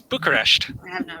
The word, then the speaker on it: Bucharest: It's Bucharest. You can't pronounce it.